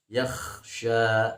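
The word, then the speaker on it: يَخْشَى: Jadi ulangi, jangan dibaca sayadzakkaru man yakhsha, tapi dibacanya yakhsha, bukan yakhsha ya, tidak boleh dikolkolahkan.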